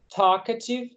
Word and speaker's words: talkative: Talkative. Talkative. Talkative. Talkative. Talkative. Isso, esse L aí você pode sumir com ele.